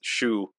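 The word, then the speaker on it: Syu: for a band called galerus his name is Shu it's spelled Sy Yu but it's pronounced Shu okay and he's really good his solo stuff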